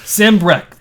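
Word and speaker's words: Sanbreque: that last episode yeah Sam Breck they say it multiple times yes I'm pretty positive that's how it says Army uh Wade has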